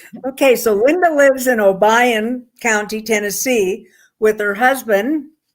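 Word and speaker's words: Obion: in obian county tennessee did i say that wrong albeit obian obayan no one ever pronounces it right so don't worry about that okay so linda lives in obayan county tennessee with her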